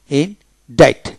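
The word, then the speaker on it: indict: কম বি টল বি টল এভাবে ইন ডিক্ট ইন ডাইট ডি আই টি ডাইট ইন ডাইট তারপরে শব্দের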